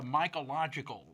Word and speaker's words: Mycological: having an event this coming Saturday with the mological society right am I pronouncing that right yes that's exactly it deals